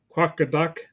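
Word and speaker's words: Qaqortoq: then chapter 11 is small town living or quaka duck yes that is how you pronounce that quaka duck uh in Greenland talks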